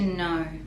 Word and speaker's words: know: ones i used to know i used to know i used to used to so the d in used we don't pronounce because it's connected and it's used to